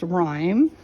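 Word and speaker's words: Ryme: are why m e without the H but still pronounced rhyme and so I wanted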